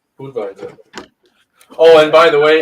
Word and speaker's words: Budweiser: yeah you're right because it's German just like just like Budweiser's Budweiser but nobody says that either it's it's boot visor Bo visor oh and by the